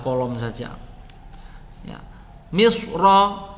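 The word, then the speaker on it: مصر: Misra ya, kalau dibaca waqaf itu ro boleh dibaca tebal atau tipis, tetapi tebal lebih utama. Jadi bacanya misr.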